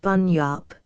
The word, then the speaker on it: bunyip: Bunyip, pronounced Bunyip, a large mythological creature, said by the Aborigines to inhabit watery places.